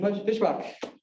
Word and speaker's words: Fischbach: all right so our first speaker mr william fishbach that's how you pronounce the right fishbox correct fantastic so he